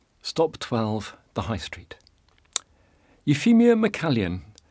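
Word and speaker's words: Euphemia MacCalzean: 12 the High Street euphemia mallan and that's how it's pronounced the spelling looks very strange owned property on edinburgh's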